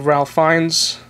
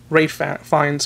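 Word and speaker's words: Ralph Fiennes: TV series from the' 60s this is with Ralph fines Ray fines I repr pronounce his name um Thurman and Sean conry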